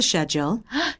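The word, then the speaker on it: schedule: 있죠 Here is the shule Here is the shule 잡았어요 here isle 적어 주도록 하고요 우리가 영국 호주 발음이 복병인 미국 발음은 스케줄이라고 들리는데 연구 호주 발음은 어떻게 들린다 쉐이라 들려요 그래서 우리 이거 같이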